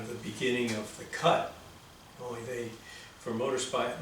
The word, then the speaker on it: kutte: the beginning of the cut only they for motor sp motorcycles speak we spell it k-u-t-t-e like a kate but it's uh it's